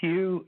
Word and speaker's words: Hugh: Yes, my name is Hugh, H-U-G-H. The last name is. It's spelled T like Tom, like Nancy, and